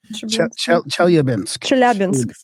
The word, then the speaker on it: Chelyabinsk: Chelyabinsk.